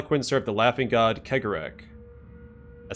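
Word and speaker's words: Cegorach: recall that harle Quinn served the Laughing God karak I said it I said it right that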